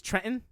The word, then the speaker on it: Trenton: Detroit and Trenton uh I'm sorry you're mispronouncing that it's Trenton yeah yeah come on